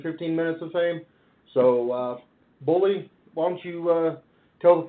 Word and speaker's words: Boli: Boli, in case anyone wants to know how that's actually pronounced.